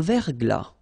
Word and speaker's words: verglas: Un verglas. Un ciel clair. Un ciel couvert. Un ciel nuageux. Une bruine. So let's see them. Une rosée, final E not pronounced. Un verglas, final S not pronounced.